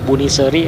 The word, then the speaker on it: Buniseuri: Ada dua huruf vokal yang saling berdekatan atau bertumpuk. Huruf E dan huruf U. Buniseuri. Tapi tetap dibacanya E ya. Buniseri atau kayak ini nih peyem.